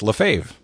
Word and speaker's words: LaFave: is from Jackie LaFave Jackie's last name is spelled different than it's pronounced and so Michael Favre